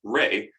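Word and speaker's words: ⲣⲏ: uh the sun symbol which in the coptic language is pronounced re that might be used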